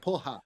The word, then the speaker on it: porra: They have support from the globalist Porra. He said it wrong. Yeah. It's in English. You say with an H, poha.